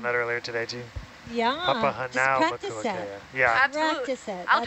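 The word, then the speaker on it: Papahānaumokuākea: Actually, funny little story, but me and Kukui, we're roommates, and one night I was like trying to pronounce Papa Hanau Makoa Kea, and we just kept saying it back and forth to each other until like I was getting it right.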